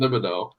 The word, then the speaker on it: Thibodeaux: How do you pronounce it? Thibodeaux.